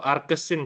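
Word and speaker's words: arcsin: ditulisnya sin invers ya atau arkes sin cara bacanya ya arkes arc ya kalau di kalkulator itu arc tulisannya ya arkes sin u/a ini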